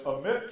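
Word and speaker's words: Amite: delta was developed later and the point is amit county which is house pronounced in mid county and pike county these are counties where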